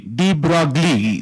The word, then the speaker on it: de Broglie: D-E-B-R-O-G-L-I-E. It is never de Broglie. De Broglie. So you can check it on Google, whatever I have said is correct. So you should use that terms only. De Broglie.